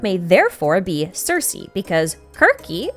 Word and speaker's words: Kirke: I then suggested that Skirk may therefore be Circe, because Kirky is how you would kind of pronounce Circe in Greek, because C's and K's are somewhat interchangeable.